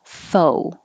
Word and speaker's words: faux: 12, faux. Forget about the X. It's from French, so no sound, just O, faux, as in faux pas.